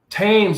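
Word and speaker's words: Thames: wake up so from apparently the age themes is silent tames i'm sorry sammy you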